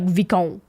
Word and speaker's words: Vicomte: The French do not pronounce the letter like that. Yeah, it would be like Vicomte.